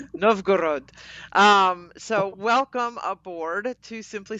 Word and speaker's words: Novgorod: Novgorod.